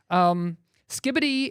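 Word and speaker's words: skibidi: It is pronounced skibbity.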